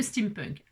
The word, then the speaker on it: steampunk: vintage, on aime le steampunk. Alors qu'est-ce que le steampunk ? Voilà, ça s'écrit déjà comme ça. S t E a m p n k steam punk. comme les punks.